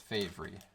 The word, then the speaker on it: Favre: of green bay and you don't know how the hell to say his name nope it's brett favre i know empty box